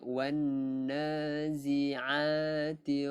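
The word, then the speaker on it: والنازعات: Alif lam syamsiah kita tidak lafazkan sebutan lam dia tu. kita terus masukkan wanna, bukan walna, wanna.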